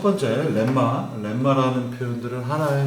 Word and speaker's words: 렘마: 공식 또는 정의 이건 이거다 라고 하는 것들을 렘마라는 표현으로 씁니다. 렘마가 아니고 렘마입니다. 날 발음이 을이라서 렘마가 되겠습니다.